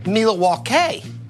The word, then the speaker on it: Milwaukee: also an algonquian word it was originally pronounced meal at walk a and means the good